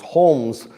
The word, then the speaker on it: Holmes: say that Holmes h o l m s Holmes Oliver Wendell Holmes uh famous for his uh